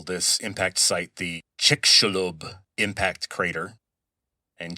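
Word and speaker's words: Chicxulub: And they call this impact site the chickalob impact crater. And chickalob is spelled ch i c x u lub. It's a Mayan term, not a Spanish word.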